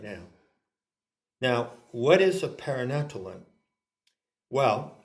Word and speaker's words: paranatellon: Okay, so now we come to the great word which I invite Ginny to pronounce. Thanks. Paranatellon.